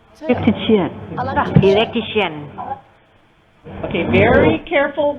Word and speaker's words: electrician: You got the word right, but where is the stress? Electrician. Electrician. Electrician. Electrician. Electrician. Electrician. Because remember, IAN changes the stress. So the whole point of this exercise is putting the stress on the correct syllable.